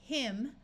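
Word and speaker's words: hymn: short I sound so this is him with a silent n here we're going to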